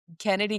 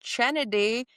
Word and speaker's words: Kennedy: You asked when we were at the Aces game because they announced Kennedy Carter. That is not, I don't know if you know this, pronounced Chennedy.